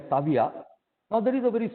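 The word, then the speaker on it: Seville: Actually, when they write it Saville, but when they pronounce it, they call it as Savia.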